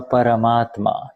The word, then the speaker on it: Paramatma: começa a se tornar o próprio Deus, o Paramatma. Is that how I pronounce?